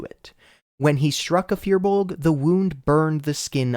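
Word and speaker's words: firbolg: pron pronunciation of fearbulg I have always said fearbulg in this script for some reason I have been saying furbolg it's not it's fearbulg anyways back to the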